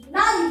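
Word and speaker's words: knight: নো নো কে এন আই জি এইচ টি নাইট নাইট নাইট শুধু নাইট মানে তোমরা জানো এন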